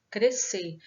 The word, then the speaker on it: crescer: Já na palavra crescer, que são as mesmas letras, o S e o C, nós pronunciamos apenas como se fosse um C, crescer. Nós não ouvimos o som das duas letras.